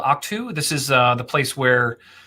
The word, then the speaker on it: Ahch-To: So I have, this is called Octu.